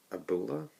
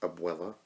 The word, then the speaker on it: abuela: his grandmother's name is Abula, I believe, or Abuela. Is it, was it Abula or Abuela? I think Abuela is how you pronounce it correctly.